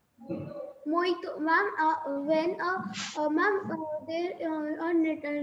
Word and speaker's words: mojito: So it's not mojito. J is silent over there. That is called a mojito.